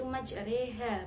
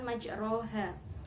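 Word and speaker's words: مجراها: itu adalah bacaan imalah imalah adalah membaca condong antara farhah dengan kasrah cara membacanya yaitu majreha bukan majroha terus selanjutnya pada lafadz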